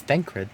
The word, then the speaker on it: Thancred: And I just don't know how to pronounce words. Okay, my turn to introduce someone. That there is Thancred. Oh, it's Thancred, not Here's our Thancred.